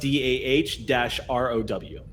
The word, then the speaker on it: Daro: That's D-A-R-O. It's pronounced D-A-H-R-O-W.